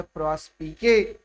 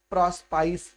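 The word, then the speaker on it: Prospice: है उसका नाम है प्रॉस्पिके, जिसको कुछ लोग प्रॉस्पाइस भी पढ़ते हैं। यद्यपि प्रॉस्पाइस गलत प्रोनाउंसिएशन है, उसका सही प्रोनाउंसिएशन जो है वो है प्रॉस्पिके।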